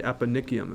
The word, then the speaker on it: eponychium: This is the eponychium, is how you pronounce that.